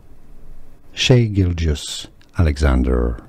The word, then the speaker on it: Shai Gilgeous-Alexander: Shai Gilgeous Alexander. Shai Gilgeous Alexander.